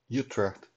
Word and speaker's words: Utrecht: following is a proper pronunciation of you trapped in that you get you dead proper pronunciation